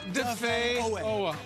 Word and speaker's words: Odafe Oweh: It's not Odafe, it's Odafe. Odafe. Odafe. Odafe Oweh. Odafe Oweh.